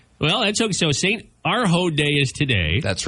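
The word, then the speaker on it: Urho: Arho Day? Bless you. No, I didn't know that. It's not on my calendar. St. Arho.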